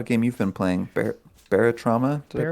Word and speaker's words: Barotrauma: Hey, Jared, you told me about a game you've been playing, Barotrauma? Did I pronounce that right? Barotrauma, yeah.